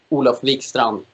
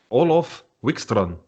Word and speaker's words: Olof Wikstrand: whatever it's it's fine olaf wickstrom no it's good enough the d is silent it's a silent d okay yeah yeah more